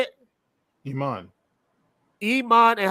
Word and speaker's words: Iman: Iman.